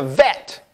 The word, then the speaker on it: vet: It's actually a bet too, but it didn't have the dagesh, and it's a vet. It's pronounced V, like vav.